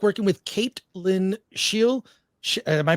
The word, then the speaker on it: Caitlin Scheel: From Rumble, 8Ellis24, what was it like working with Caitlin Scheel? Am I pronouncing that correctly?